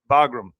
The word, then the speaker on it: Bagram: Bagram.